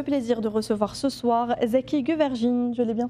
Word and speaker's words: Zeki Güvercin: Et nous avons le plaisir de recevoir ce soir Zeki Güvercin, je l'ai bien prononcé.